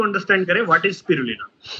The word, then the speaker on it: Spirulina: स्पिरुलना भी ठीक है। स्पायरोलीना भी ठीक है। है ना? एक अमेरिकन एसेंट होता है। एक इंग्लिश एसेंट होता है। एक इंडियन एसेंट होता है। तो स्पिरुलना करेक्ट प्रोनाउंसिएशन है।